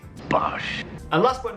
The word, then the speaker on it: Bosch: different types of machines to pronounce this brand name correctly simply say Bosh Bosh and last but not